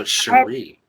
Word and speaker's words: Sheri: Okay, so it's Sheri. I've been saying it wrong. Why didn't you tell me I'm saying it wrong? I mean, it's Sheri. It's really a hyphen over one of those accents over the I.